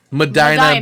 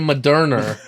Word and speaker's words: Medina: a weather report and he mispronounced Medina by saying moderna and we thought it